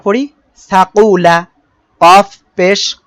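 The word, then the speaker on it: كاف: জিহ্বার গোড়া থেকে একটু আগে বাড়িয়ে তার বরাবর উপরে তালুর সঙ্গে লাগিয়ে কাফ।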